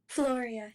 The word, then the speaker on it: Floria: So, am I pronouncing your name correctly? Floria, yes. Floria, welcome. Introduce yourself.